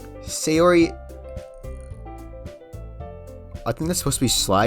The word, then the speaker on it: Sayori: Yes, that's how you say her name. Sayori.